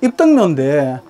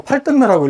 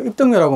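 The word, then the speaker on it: 입덕묘: 해가지고 여기는 주경제, 사승제, 그 요 뒤에 이제 사당은 입등묘인데 그 여덟 팔자하고 구분이 안 돼갖고 팔등묘라고 읽는 분들이 많으신데 혹시나 오셔갖고 노계서원의 사당 이름 뭐냐? 도계서원의 사당 이름 뭐냐 그러면은 그 입등묘라고 말씀하세요.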